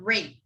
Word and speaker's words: rate: So, yeah, we were at the word rate. So remember when we were talking about T, when T is surrounded by the vowels, it's not pronounced, it's kind of pronounced as D, rate, rate, rate.